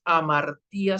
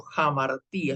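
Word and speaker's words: ἁμαρτία: Notarán, el espíritu áspero no es amartía, sino jamartía, espíritu áspero, espíritu rudo.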